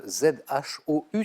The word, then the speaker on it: Zhou: Ça s'écrit Z-H-O-U, ça se prononce Zhou.